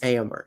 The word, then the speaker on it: Éomer: And so pronouncing his name, I am not good at. Éomer? Aorn? Éomer. Éomer? Éomer. Éomer. Yes. Éomer.